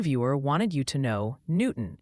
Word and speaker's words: Newton: wanted you to know Newton is apparently pronounced new town.